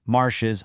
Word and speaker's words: marches: for the tu form, all three of these conjugated forms sound exactly identical when spoken out loud. Marche, marches, marche. They all just sound like marche. A really common beginner mistake is trying to pronounce that s when speaking to someone, but you don't. It is completely silent.